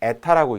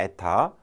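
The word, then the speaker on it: η: 그리스 문자 이렇게 쓰고 에타라고 읽습니다. 에타. 영어의 n에 해당되겠죠. n, 에타.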